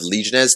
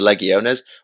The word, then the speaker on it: legiones: stest by the way I'm going to Recon all my previous pronunciations of legionz to Leones one because Latin and two because awesome they first appeared in